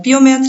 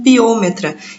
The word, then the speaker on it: piometra: Algumas pessoas se referem a piometra como piometra e outros pronunciam como piômetra. Eu sei que a minha irmã, que é médica, vive me corrigindo dizendo que eles falam piômetra, mas dentro da medicina veterinária, pelo menos, a gente fala bastante piometra.